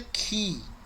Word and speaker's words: chi: Esse aí que tá chi, a pronúncia dele é ki.